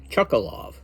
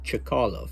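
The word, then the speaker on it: Chkalov: name after him and everybody here called it chalov but the correct pron pronunciation of the name is chakalov and that is in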